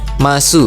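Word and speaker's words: ます: ada kata masu ya atau bacanya ini bukan masu ya, tapi mas gitu ya. Nah, dia sama kayak des ya. Jadi penulisannya kan desu tapi bacanya des. Nah, mas ini juga sama ya penulisannya masu tapi bacanya mas gitu ya.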